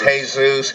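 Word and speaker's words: Jesús: ] well it's like it's like Christians here say Jesus you go to a spanish-speaking country it's hey-zeus it's it's simple linguistics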